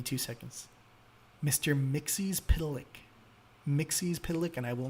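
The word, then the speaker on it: Mxyzptlk: oh give me two seconds Mr Mixie pck Mixie pck and I will not argue uh that's how you pronounce it uh along with batm might I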